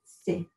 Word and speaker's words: se: do number three is say a very soft s with just a little air rhyming with cafe se so so far we